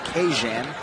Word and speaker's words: Kajan: mr johnson this week his first name is to be pronounced cajun so don't shoot the